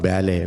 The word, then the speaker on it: ballet: Dan ballet this not ballet ballet is English word French word yeah I'm sorry French word b l l e t t silence they don't pronounce t b b b they